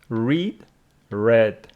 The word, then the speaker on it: read: one read read so spelling exactly the same r e a d but it is pronounced read red read red red right Ro See